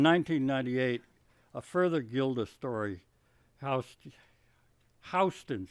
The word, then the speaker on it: Houston: And then in 1998, a further Gilda story, Houston, she insists it's pronounced as the street in New York rather than in the city, is set further in the same future.